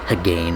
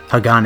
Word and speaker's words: Hagane: the hell that was I pronounced it like Hagan or something Haan is uh the Japanese word for steel now for those who